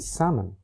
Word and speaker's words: salmon: The L in folk and salmon and the P in receipt have been lost.